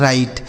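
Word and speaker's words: write: Next [नाक से की जाने वाली आवाज़] वर्ड है दोस्तों डब्ल्यू आर आई डी ई। इसे पढ़ा जाता है राइट। यहां देखिए डब्ल्यू साइलेंट है।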